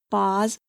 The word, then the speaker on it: Boz: Pronounced through the nose, it became Bozes and then Boz.